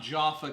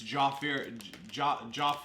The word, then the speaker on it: Jaffa: It's not Jaffa cakes, it's Jaffir cakes or something like that. It's like a non-existent R.